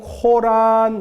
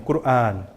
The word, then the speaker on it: 꾸르안: 이제 꾸란은 우리가 꾸르안 또는 코란 이런 식으로 얘기를 하는데, 원래 발음은 꾸르안이에요. 꾸르안. 그래서 줄여서 꾸란이라고 쓰기도 하고, 꾸르안이라고 쓰기도 하고, 근데 코란이라고 쓰기도 하고, 코란은 영어식 표현이고요.